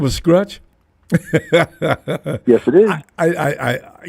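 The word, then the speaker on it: Skruch: Scratch. It's a Polish last name. Yeah. S kr u c h.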